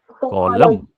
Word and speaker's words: column: और जो standing lines के बीच में जगह होती है, these are called कॉलम। COLUMN। इसमें एन साइलेंट है, बट स्पेलिंग्स आपको याद रखने हैं।